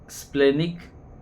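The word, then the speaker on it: splenic: Second है स्प्लेनिक nerve. इसमें पी साइलेंट है।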